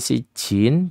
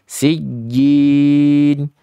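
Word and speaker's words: سجين: Sugra rnya tabii madukun Bukan sijin tapi sijjin sijjin bukan sijjin Jin bukan Jin sijjin begitu ya Ya dicoba di ayat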